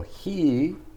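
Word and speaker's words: 火: erase these lines and car is the chinese word for fire i just said that he can be both sun and fire so he is the native japanese pronunciation for fire when i lived in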